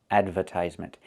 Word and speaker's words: advertisement: Advertisement. It's adver advertisement. We need that sound like in burger.